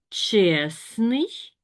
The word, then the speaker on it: чесний: І ми вимовляємо чесний і пишемо чесний.